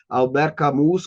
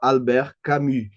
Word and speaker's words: Albert Camus: que é argentino, e na Argentina eles ignoram solenemente a maneira certa de pronunciar os nomes estrangeiros nas línguas originais. Então ele fala Albert Camus, Camus, Camus. Enfim, eu não conhecia Horácio Gonçalves, não conhecia o Camus, e só depois que eu comecei a estudar francês e percebi que se pronunciava Albert Camus.